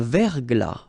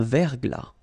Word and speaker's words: verglas: Un verglas. Un ciel clair. Un ciel couvert. Un ciel nuageux. Une bruine. So let's see them. Une rosée, final E not pronounced. Un verglas, final S not pronounced. Un verglas.